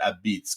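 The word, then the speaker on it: apizza: beitz a i z Za a and they pronounce it Ab Beats because you know I got to grab some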